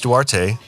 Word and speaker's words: Duarte: And thank you for pronouncing your name correctly cuz I was saying it awkwardly as he that's you're not the first person that is absolutely okay in it. That's how it looks sometimes.